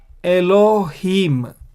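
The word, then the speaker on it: אֱלֹהִים: And so this is mem sofit and is pronounced m. And so how do we pronounce this word? Elohim.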